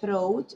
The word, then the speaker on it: throat: Sore throat, throat, la T y la H se pronuncia como Z, throat.